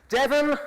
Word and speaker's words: Devon: Devon, the only English county to rhyme with heaven.